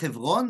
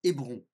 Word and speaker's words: Hébron: Quand est-ce qu'on va franciser ? Lorsqu'il y a une prononciation qui est difficile pour la langue française. Donc par exemple, Hévron deviendra Hébron.